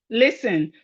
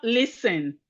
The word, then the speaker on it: listen: We have listen. Listen. Listen. Listen. The T is silent.